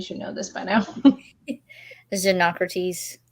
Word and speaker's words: Xenocrates: Xenocrates. I think that's how the audiobook pronounced it. Yeah. Xenocrates.